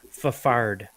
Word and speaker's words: Fafard: Just so you guys know, the correct way to pronounce Curtis's last name is Fafard. Just so you know. Okay. How else would it be pronounced? Oh, there's no other Fafford, way.